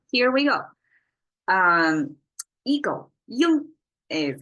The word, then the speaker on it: 鹰: we go um eego y is how Chinese pronounce it you have to make it a flat tone I found non non-chinese